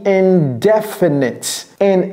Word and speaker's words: indefinite: C'est-à-dire, le stress n'est pas mis ici sur la 3e syllabe. C'est sur la 2e syllabe que le stress est mis.